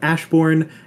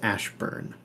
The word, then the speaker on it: Ashburn: Some would call it Ashbourne, and they would be driven out because that's not how you pronounce it. It's Ashburn.